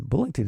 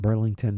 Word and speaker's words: Bullington: And Bullington is spelled b u l l i n g t o n. And not Burlington, not Birmingham, it's Bullington.